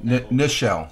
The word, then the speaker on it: Nichelle: she passed away at eighteen what's that michelle nichelle no i'm staying corrected nichelle neschel nichols i pronounced that right michelle nichols she played uhura